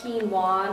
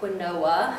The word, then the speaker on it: quinoa: It's pronounced quinoa, not quinoa.